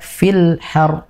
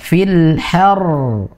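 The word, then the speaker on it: الحر: Ummu Faiz tadi kurang tekanan. Ya, jadi masih dibaca fil har. Ya, kan itu kan ro-nya masih belum tasdid. Tekan fil har. Nah, itu nanti baru terlihat atau terdengar jelas bahwasanya di situ ada tasdidnya.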